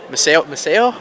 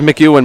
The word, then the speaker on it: Maceo: How do you pronounce his first name again? Which one? You got his name right from pregame. Maceo? Yeah. Maceo Collins. The name I got was McEwen before the game.